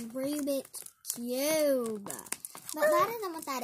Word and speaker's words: Rubik's: One of them Ruby cubes?